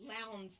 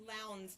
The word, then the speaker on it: Lowndes: Excuse me, Lowndes County. I've asked somebody how to pronounce that 50 times already. Lowndes County.